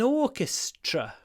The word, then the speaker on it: orchestra: I used to play in an orchestra. Orchestra. At the end we got a T-R-A. Remember T-R is pronounced ch, tr, tr. So you get the same sound you get in truck. Truck, tr, tr, tr.